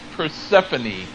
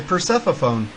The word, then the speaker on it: Persephone: which a reverb reverb how do you say it again it's Persephone I was gonna say Persephone yeah yeah it's like the